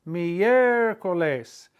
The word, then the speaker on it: miércoles: It has to go on the E, because if you put it on the I, you'd break up the diphthong. It's miércoles, accent on the E.